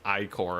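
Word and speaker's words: ichor: It is pronounced I core apparently.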